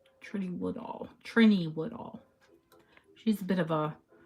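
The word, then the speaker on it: Trinny Woodall: And the lady, Trini Woodall, yeah, that's how you say her name. Trini Woodall.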